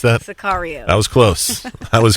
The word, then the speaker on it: Sicario: We've already got done reviewing the movie Cesario. How do you pronounce that? Sicario.